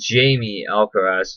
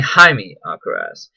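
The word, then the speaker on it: Jaime Alcaraz: When they even introduce themselves, even he says, instead of like Jaime Alacraz, which is what the American way of saying it is, we end up going in more of a favor of a Japanese pronunciation.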